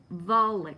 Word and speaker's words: Vulich: that Steve, Steve, he's the CEO of Infinity, Volvic. I think that's how you say his name. You know who I'm talking about. And let me see, Steve. Yeah, it's Stephen Vulich, V-U-L-I-C-H.